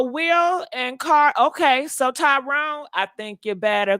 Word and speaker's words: Tyrone: it says so will and car okay so Tyrone I think you better call T hey how you doing good how you doing baby how you pronounce your name t y r o n e Tyrone okay I said it right okay I